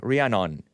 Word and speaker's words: Rhiannon: Rhiannon, how do you pronounce that name? Rhiannon. Rhiannon. Sounds like is that a Fleetwood Mac song, Rhiannon?